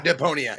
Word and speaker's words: Deponia: Am I pronouncing this correctly? Deponia. Oh yeah, Deponia.